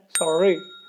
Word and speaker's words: sorry: ऐसे ही SORRY हम लोग बोलते हैं सॉरी, लेकिन ये प्रॉपर तरीका क्या है, सॉरी।